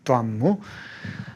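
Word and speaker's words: 端木: 두안무. 발음 정확히 하려면 두안무 이렇게 발음해야 됩니다.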